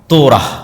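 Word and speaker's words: Torah: মুসা আলাইহিস সালাতু ওয়াস সালামের কওমকে যখন তাওরাত দেওয়া হলো, তোরাহ বলে ইহুদিরা উচ্চারণ করে, যে তোরাহ, যখন তাওরাত দেওয়া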